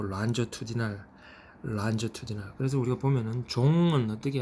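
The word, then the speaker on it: longitudinal: 그래서 그거를 란저투디날이라고 이제 발음하죠. 롱기튜디날이 아니고 란저투디날.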